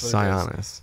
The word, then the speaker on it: Sionis: is I know yet Roman Roman sionis that's sionis the thing is - we actually in the